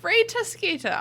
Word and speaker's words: Rita Skeeter: that changed my world ray tosquita obviously it rhymes in brazil yeah it rhymes in british you say her name exactly the same way you say peter pettigrew peter pentagore yeah you